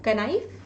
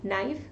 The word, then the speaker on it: knife: Very simple word right, इसको क्या बोलते हैं? कनाइफ? नो, इसको बोलते हैं नाइफ। वेरी नाइस, आप सबको पता है। इसमें जो हमारा के है दैट इज साइलेंट राइट।